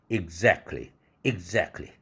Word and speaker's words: exactly: exact에다가 부사형 ly 붙었어요. 이때 t가 날아가죠. exactly. 정확하게 맞아. 이럴 때 exactly right. 원어민들이 참 자주 쓰는 표현이죠. exactly right. 그렇게 발음해야 되는데 여러분들은 가끔 들었을 겁니다. 왜 exactly? 저건 무슨 단어지? 왜 exactly로 발음하지 않지? t가 날아가서 그런 것입니다.